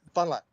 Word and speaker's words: Fond du Lac: Fond du Lac. Fun like one syllable.